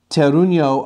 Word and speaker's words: Terruño: Terruño, at least how this is spelt, this is the anglicized version of the Spanish word Terruño, which means terroir in Spanish. Instead of the N-Y-O, it would be the N with the little tilde over it and no Y.